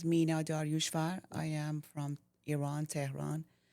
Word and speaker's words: Iran: Iran is how you pronounce it.